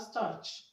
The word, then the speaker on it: starch: Option B, we have starch. Starch. Okay, now the CH in starch is pronounced ch, ch, not sh.